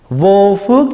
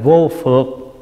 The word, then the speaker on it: vô phược: hơn cái thứ 9 vô phước giải thoát hồi hướng xin lỗi đọc là vô phược chữ phương là gì chữ phượt là trói buộc thí dụ mình nói